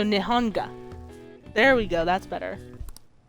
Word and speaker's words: Nihonga: Foreigners visiting Japan during the Meiji period called this Japanese painting, which the literal Japanese translate as Nihon and Ga. So Nihonga.